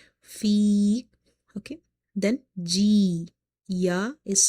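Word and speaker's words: في: Fi, ya is madda, because before ya sakina you have kasra, which makes this ya madda. So we will read by stretching up to one alif. Fi, okay.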